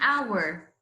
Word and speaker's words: hour: I need an hour. I need an hour. Look here, hour. The H here is what? Is silent H. The H here is silent H.